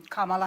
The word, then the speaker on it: Kamala: um a shared priority well let's let's um Kamala and I'm calling you Kamala because for all of those who are mispronouncing it I want you all to know